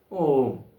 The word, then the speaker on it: ഓം: ഉൾപ്പെടെ നമ്മളൊക്കെ ഓം എന്ന് ചൊല്ലുന്നത് ഓം ഇങ്ങനെയാണ് വാസ്തവത്തിൽ അത് തെറ്റാണെന്നേ പറയാൻ പറ്റുുള്ളൂ കാരണം മൂന്ന് മാത്രേണ്ടത താണ് ഓം എന്ന മന്ത്രത്തിന്റെ ഉച്ചാരണം മൂന്ന് മാത്രം എടുക്കുമ്പോൾ അത്രയും സമയം ആകില്ല ഇത് എത്ര നേരമാ നീട്ടുന്നത് അങ്ങനെ നീട്ടി തെറ്റായി ചൊല്ലുന്നത് നമ്മൾ ശീലിക്കരുത് എന്നാണ് എനിക്ക് പറയാനുള്ളത് ഓം എന്ന് ചൊല്ലിയാൽ അത് മൂന്ന് മാത്രയാകും ഓം അങ്ങനെ വേണെങ്കിലും ആകാം മൂന്ന്